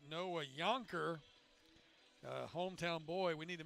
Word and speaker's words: Jonker: for number 24, Noah Yonker. We've been saying Jonker, it's spelled Jonker, but we should have known better because Noah actually hails from right here in Alexandria.